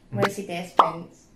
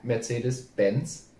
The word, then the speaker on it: Mercedes-Benz: okay so the first one or easy I'm Mercy dance pants wow okay yeah that wasn't too bad it's actually yeah Mercedes-Benz okay yeah Tigers yeah close enough let's